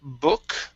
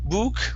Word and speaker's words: book: up is the word book instead of boo book with an u it's uh uh book book all right excellent excellent uh